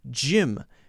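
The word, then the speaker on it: gym: a soft G sound and Jim g ym is a soft G sound it's the judicious sound right whereas the others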